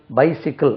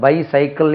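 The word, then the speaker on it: bicycle: அப்போ மற்றவர்களை தன்னை விட குறைந்தவர்கள், இப்போ என்கிட்ட 2 பைக் இருக்கு, அவங்ககிட்ட 2 பைசிக்கிள், அது பைசைக்கிள் இல்லை, அது சைக்கிள். இது பை சேர்த்துட்டா பைசிக்கிள். இது பைசைக்கிள் சொல்லக்கூடாது.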